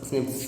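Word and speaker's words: SNPs: அதாவது ப்ரொனவுன்ஸ் ஸ்னிப்ஸ் அதான் அக்கரன் ஹியூமன்.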